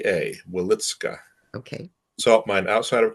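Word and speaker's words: Wieliczka: He then ended up in the Witzka salt mine, which interestingly still exists in Poland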